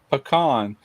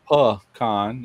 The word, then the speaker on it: pecan: Actually, the way you say pecan, it's in between the way I say it and the way people call it pecan. You call it pecan. Pecan. I call it panon. Even though it it's spelled like pecan, but down here in the south it's pecan, but you say peon, you know, like a variety of a bird or something like a peacock.